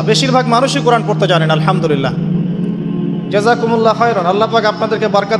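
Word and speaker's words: الحمد لله: খাও অর্থ চলে এসেছে আপনি পড়ছেন আল্লাহু আকবার আলহামদুলিল্লাহি রাব্বিল আলামিন এইতো আপনি পড়ছেন আলহামদুলিল্লাহ শব্দটা কি আলহামদুলিল্লাহ এই হা এর মাখরাজ কোথায়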